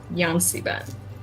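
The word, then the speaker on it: Yan-C-Bin: a is a being by the name of yan C Ben how do you spell that Yan Dash Capital C Dash Ben b i n yon Ben yanen is the is the prince of Elemental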